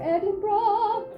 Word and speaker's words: Edinburgh: it tomorrow I'm sorry there's only two syllables there we go Edinburgh I was told about